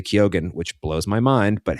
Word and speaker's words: Keoghan: You don't want to kill Barry Keoghan, who I heard him pronounce his own name on a podcast and he does say Keoghan, which blows my mind, but hey, he's the Irishman, not me.